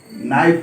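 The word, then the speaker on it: Knife: उसके बाद है चाकू चाकू को नाईट बोला जाता है कि के नाम आए ए फैन आफ यह के साइलेंट रहेगा उच्चारण नहीं होता है इसलिए उन्हें नियुक्ति में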